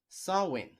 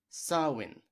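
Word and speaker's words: Samhain: of Halloween comes from the gelic festival called sawin I repeat sawin during this time the Celtics celebrated the Harvest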